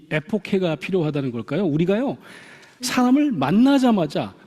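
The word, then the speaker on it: ἐποχή: 이 히라버를 영어 음역으로 읽으면 에포케라고 읽습니다. 에포케. 그래서 이 히라버로 그리스 말로 에페케인이라고 하는 동사가 있어요.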